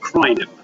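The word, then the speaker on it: Kraainem: It's called And the actual town is called Krinem. That's how you pronounce it as well.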